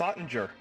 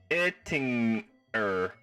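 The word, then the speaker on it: Oettinger: The OE part is pronounced by forming your lips like you're going to say ooh, but vocalize eh. Ettinger. Then ting Ettinger. Ettinger? Sounds way more authentic that way. Ottinger sounds wrong.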